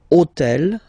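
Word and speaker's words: hôtel: took on purpose this hotel. Okay? Because it starts with ash. But remember that in French we don't pronounce ash. Okay? So basically the first sound of the word is the vowel o.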